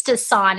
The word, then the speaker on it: tisane: It's tisane. It's a French word.